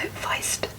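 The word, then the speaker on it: Wiest: Brianna, now it's spelled W-I-E-S-T. I believe that kind of sounds a bit German, so Feist.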